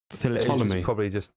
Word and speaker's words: Ptolemy: Ptolemy. You probably don't pronounce the P. It's probably like Ptolemaic dynasty of King Ptolemy.